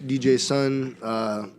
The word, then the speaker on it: DJ-Sun: DJ name is son DJ son the joke there is that my name is Jason so the D is silent J son some people never get